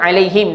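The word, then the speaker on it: عليهم: Kenapa baca him tak baca hum? Ah ha, sebab sebelumnya ada ya mati. Okey, ada berapa alaihim dalam ayat ni?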